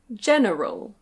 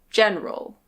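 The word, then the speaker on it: general: This word can be pronounced "gen-e-ral". Gen-e-ral. But usually we say "gen-ral".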